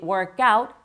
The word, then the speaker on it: workout: I usually work out in the morning. 근데 발음하실 때 work보다는 out를 좀 더 세게 workout 이렇게 workout.